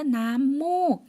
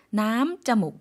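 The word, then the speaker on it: น้ำมูก: 남목 이래서 아까 코 코를 우리가 단어 배워보았는데요. 코라는 단어가 자목이었어요. 그런데 콧물이라고 발음할 때는 남자목 아니고요. 남목이라고 발음해 주셔야지 되겠습니다.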